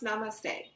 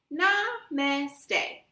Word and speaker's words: Namaste: and slowly bow toward Miss Rabbit how to pronounce Namaste Namaste Namaste Madame Gazelle is right the children feel